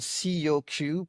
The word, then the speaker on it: Coq: called COQ, pronounced Coq.